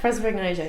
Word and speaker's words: prosopagnosia: So this journey, have you connected locally with anyone else who has prosopagnosia? Is that right? Prosopagnosia, yeah. I just say it really quick. so you don't have to necessarily pronounce it right.